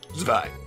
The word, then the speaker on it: Zwei: Zwei.